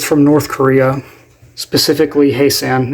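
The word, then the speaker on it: Hyesan: It's from North Korea, specifically Haesan, is I believe how you say it.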